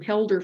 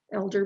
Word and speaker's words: Helder: And his name is spelt with an H, but you pronounce it Elder. And we were calling him Helder for quite a while before we finally figured it out.